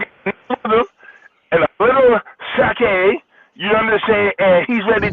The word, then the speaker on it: sake: It's pronounced sake.